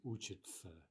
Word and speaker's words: учатся: We write учатся, but we say учатся.